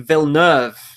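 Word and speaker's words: Villeneuve: number two with Denis vilner which I've found out is the pronunciation I've been pronouncing it wrong since the dawn of time I think number one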